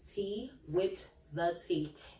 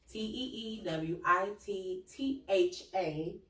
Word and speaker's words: Tee Wit Tha Tea: I am on all social media platforms as Tee Wit Tha Tea. It is spelled just like it sounds. TeeWittThea.